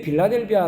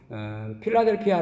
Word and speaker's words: 필라델피아: 근데 어 이게 왜 빌라델비아 로 어 번역을 했는지 정부가 스럽기도 합니다 헬라어로 도 보미는 필라델피아 라고 하는 것이 더 발음 발음이 맞는데 어쨌든 우리 성경에는 빌라델비아